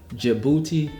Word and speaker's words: Djibouti: I say that name right. Djibouti, Africa. And it doesn't spell how you pronounce it.